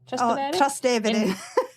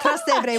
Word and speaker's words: Trastevere: with Devour, and just now I'm going to pronounce this wrong again, so you're going to have to help me. Is it Trastevere? Trastevere. That's it. Trastevere, which is a neighbourhood in Rome.